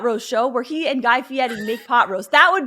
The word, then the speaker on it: Guy Fieri: i would watch i like how you say guy fieri you say it like the problem like how you're supposed to pronounce it oh he's he is my god